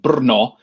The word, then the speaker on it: Brno: is spelled correctly um the czech language uh runs a little bit short on vowels uh so the city is actually called brno in what's now the